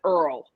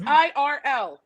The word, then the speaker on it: IRL: he reads the book he pronounces irl as earl and it makes me crazy and every time i listen to the audiobook i'm like no it's irl in real life not earl dammit it makes